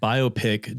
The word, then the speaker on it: biopic: Biopic does not and never will rhyme with myopic.